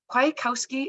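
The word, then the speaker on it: Kwiatkowski: you to Marvin Marvin quietkowski is that how I pronounce your last name yes perfect I'm asking because I'm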